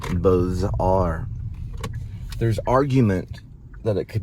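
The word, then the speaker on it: Beaux-Arts: the name of the style of art is pronounced B are there's argument that it could be pronounced bizar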